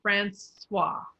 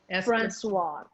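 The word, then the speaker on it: François: is the first thing anytime you see an ois it becomes a w okay so that's francois francois yeah francois so anytime the french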